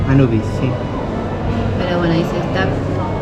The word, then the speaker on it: Anubis: Anubis, no sé cómo se pronuncia. Anubis, sí.